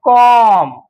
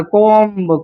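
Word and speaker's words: comb: असताना सी ओ एम सी ओ एम कॉम कॉम असाच वाचायचा आहे बी उच्चार करायचा नाही नाहीतर तुम्ही उच्चार कराल कोंब कोंब हा प्रोनन्सिएशन चुकीचा आहे.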